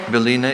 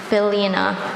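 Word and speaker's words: bylina: Belina is a noun.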